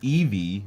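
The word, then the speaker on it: Yvie: They say Eevee, but it's spelled Y V I E.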